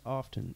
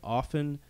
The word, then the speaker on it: often: and let us know how you pronounce that with the t or without the t and also often or often it's whether